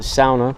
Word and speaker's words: sauna: I'm going to pronounce it sauna because that's how they do in Germany, and my wife is German, and it just kind of got me in that habit.